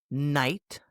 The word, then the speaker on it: knight: Like in night, no, and knee. The silent K. I didn't hear a K at all.